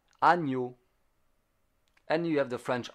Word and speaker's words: agneau: You have the GN, ny. It's a bit like Kenyan. Agneau.